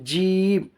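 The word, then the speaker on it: جيم: এবারে হবে জিম। জিমটা একদম গাঢ় ভাব হবে, জিভের মিডিল এবং উপরের তালু আছে যে উপরের উপরের মুখের উপরের তালুর মিডিল চেপে জিম, জিম, জিম, যেটা আপনি জিমের সাথে জাবার লাগিয়ে পড়লে উচ্চারণটা এসে যাবে।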